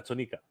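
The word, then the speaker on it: Tonnika: You pronounce that even funny. Tonica? You said Tonica? Yeah, Tonica.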